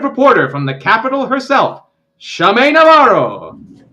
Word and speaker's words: Schume Navarro: guest, our intrepid reporter from the capital herself, Shame Navaro. Praying to God that I pronounced that correctly.